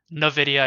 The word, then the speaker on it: Nvidia: on uh in the Nvidia no video I believe is the proper pronunciation squeeze that's going on